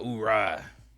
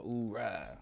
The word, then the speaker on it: oorah: The Marines, they kind of pronounce it all oorah. Hoorah. Army, you just who?